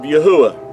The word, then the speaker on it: Yahuah: the ancient Hebrew and if you remove the D out of Yehuda you have the pronunciation of yahuwah so uh another word